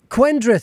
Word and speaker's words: Quendrith: so your name then quendreth have i got the pronunciation correct it sounds like a welsh name to me yes you're absolutely right so my mother spent